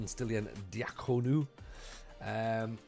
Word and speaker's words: Stelian Diaconou: So £1.8 million spent for Stelian Diaconou. Alexandru says I've said it right. Get in, clip it. That's me pronunciating Romanian names correctly.